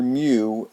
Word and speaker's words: mu: funny-looking you that's mu it's pronounced it's Greek letter mu mu and that stands for